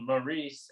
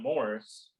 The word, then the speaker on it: Maurice: want to make sure this is called maurice and not morris but a lot of people say it both ways so there you go but i'm going to say call me maurice yeah is it what